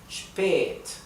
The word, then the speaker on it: spät: Cuando no está seguida por una doble consonante, se pronuncia un poco más larga. Spät.